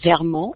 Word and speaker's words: Vermont: So I'm coming to you from my living room in the state of Vermont in the United States, which is pronounced Vermont in French.